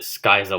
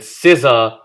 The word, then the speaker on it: Scizor: I used to pronounce it skiser when I was a kid cuz I I don't know. And then scissor like scizor evolved into mega scissor